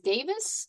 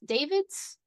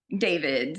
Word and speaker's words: Davids: She is running for Congress in the district three against Charice Davis. Davids. Davids.